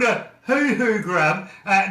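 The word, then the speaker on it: huhu: have a grub here that we call a hoo-hoo grub it's spelt h-u-h-u and uh literally uh we you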